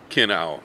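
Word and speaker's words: Kinnow: flavor so this is Kino spelled like minow with a k k i n n o w man oh man is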